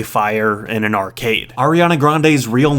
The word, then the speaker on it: Grande: in an arcade Ariana Grande's real name is Ariana Grande bouta with Grande being her mother's maiden name apparently her Grandpa would pronounce it Grandy though so that's interesting Riley